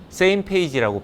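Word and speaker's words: SMPAG: 어 첫 번째 조직은 SMP 세임 페이지라고 발음을 합니다 스페이스 미션 플래닝 어버리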